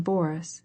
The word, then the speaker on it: Boris: as she followed him she pronounced the name boris with the accent on the first syllable i cannot stay any